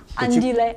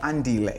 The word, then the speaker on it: Andile: Oh, I'm happy you can pronounce my name. Thank I you. normally tell people to call me Andy because Andile is so difficult. Okay. You pronounce my name well.